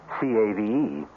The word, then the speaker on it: cave: with the latin word spelled the same way c-a-v-e but pronounced cave it means beware our cast included